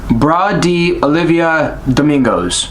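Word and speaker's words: Brás de Oliva Domingos: Hold on, let me pronounce his name correctly. It's Bra de Olivia Domingos.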